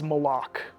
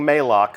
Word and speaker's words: Malok: uh and that is malok malok right official pronunciation confirmed so if you hear anybody saying maok send them right here to the archive of this stream our design leaders told us it's malok we actually have a